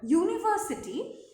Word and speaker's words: university: As soon as we put it in this word, university, its pronunciation changes and it becomes YU, where Y is a consonant.